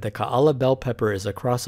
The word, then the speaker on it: Kaala: a longer vowel sound one example of several alternatives to write and pronounce kaala would be ka-a-la i have chosen ka-ala because none of the documentation for the name of the pepper by the university of hawaii has included special characters back to the process